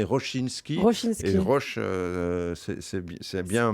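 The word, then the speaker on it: Rosiński: Hein, c'est Roche, on prononce en polonais Rochinski.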